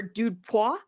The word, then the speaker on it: dudepoints: You can find me at dudepoints dot fun, or dudepois as it's correctly pronounced, dot fun.